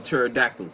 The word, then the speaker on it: pterodactyl: bro like the um like the p on pterodactyl like why yeah like